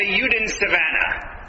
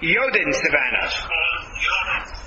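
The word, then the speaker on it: Jodensavanne: Yodin Savannah. Okay, thank you. Yodin Savannah, not Yudin.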